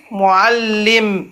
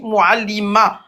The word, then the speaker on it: معلم: M, dans le commentaire, il a mis muallima. Non, c'est pas muallima, ça n'existe pas.